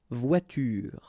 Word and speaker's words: voiture: Okay, so the first one, and the rule is quite clear, it's à la fin d'un mot, at the end of a word, then you shouldn't pronounce this like here, une voiture.